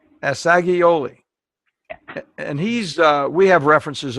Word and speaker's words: Assagioli: Pronounce his last name again for us, Beverly. Asiglioli. Assagioli.